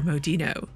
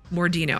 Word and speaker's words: Mordino: will go there now Senor modino mordino I keep saying his name wrong what's in the package